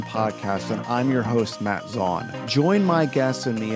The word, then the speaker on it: Matt Zaun: very excited today to chat with our guest Matt Zan um and I didn't even ask you beforehand did I pronounce that correctly you did thank you I